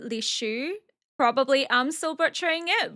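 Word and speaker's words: Lishu: of the concubine names, which is Li Hao and Li Shi, but their pronunciations are actually Li Hua and Li Shu.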